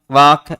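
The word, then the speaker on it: walk: हो जाता है टाक वाक और चाक इसके अंतर्गत समानता प्रकट करता है कि तीनों के अंतर्गत अंत में एल के लिखा हुआ है और इनका उच्चारण करेंगे तो एल साइलेंट रहता एल का क्या हो जाता है?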